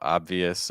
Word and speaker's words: obvious: so obvious you know personally when I say obvious I pronounce a slight B sound I'll be honest um but you will hear some people pronounce it without the B um so obvious or obvious obvious that's